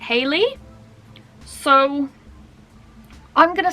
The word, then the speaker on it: Halley: When I saw it on YouTube and on the back of her album, I read it Halley's Comet. It's Halley, Halley, right? But Billie sings it Haley, so I'm gonna say it's Haley.